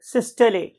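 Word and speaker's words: systole: कि इस particular ventricular सिस्टले की वजह से, अच्छा, बहुत से जो हमारे यहाँ के लोकल कन्वेंशनल लोग हैं वो इसे वेंट्रिकुलर सिस्टोल भी बोलते हैं, but actual pronunciation is ventricular सिस्टले।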